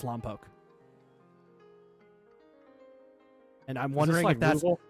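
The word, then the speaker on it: Lompoc: But if you're from the area, it's Lampoke.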